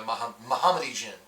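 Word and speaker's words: Mahamoti Djinn: This is actually a Mohammedi Jin. is how you pronounce this guy's name, and I love him so much.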